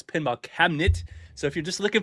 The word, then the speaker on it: Pinball Cabinet: If you don't know pinball cabinet, not cabinets because I keep saying it wrong. You call me up, you're saying it wrong, but no, it's pinball cabinet.